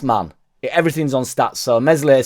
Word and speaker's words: Meslier: Everything's on stats, so Meslier Silent S isn't the best keeper or isn't a good keeper because he's shot stopping or whatever, but his clean sheets don't matter.